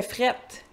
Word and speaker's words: frette: Est-ce qu'il fait frette?" Et "frette", c'est notre prononciation du mot "froid".